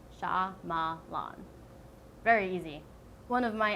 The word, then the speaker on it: Shyamalan: Night Shyamalan and Ding Dong, or whatever you want to say, because you can't pronounce his name. It's Shyamalan. Shyamalan.